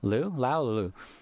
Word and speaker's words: Liu: Dallas Liu. Lou.